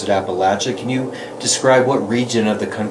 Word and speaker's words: Appalachia: So some people might hear it as Appalachia. Yes. Right? I think Northerners pronounce it Appalachia, and you pronounce it Appalachia.